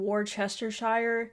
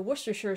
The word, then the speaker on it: Worcestershire: I got to Worcestershire and I kept saying war chestershire and then I was like hmm you know what this kind of looks like the Worcestershire sauce and I pronounced it just you know